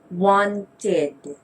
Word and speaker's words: wanted: we add ed, and the rule says that if the verb ends with a T or a D, we sound it with an id. So we read it as wanted.